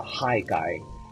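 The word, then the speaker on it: Haigai: he's a distributor it's called a high guy h-a-i-g-a-i and he is super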